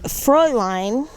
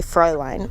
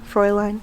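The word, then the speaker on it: Fräulein: say her name right it's actually frow line that's how you actually say it pro line froy line it's German no some people some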